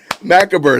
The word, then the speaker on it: macabre: I can't even pronounce it like she was doing. Macabre. Oh, that's right. Macabre.